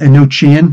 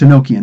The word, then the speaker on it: Enochian: the language of angels it looks like it's spelled a no chin no it's Enochian that's the proper word but that's the difference